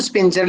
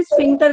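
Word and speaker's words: sphincter: ये तो स्पिंचर लिखा हुआ देखिए, नहीं नहीं क्या सर, गलत। इसको ना, इसको स्पेलिंग सही है, बोलने में प्रोनाउंसिएशन में स्फिंक्टर कहते ओ, हैं।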